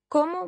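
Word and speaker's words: cómo: it as Paco does with the O like the O in the English word pot how are you it's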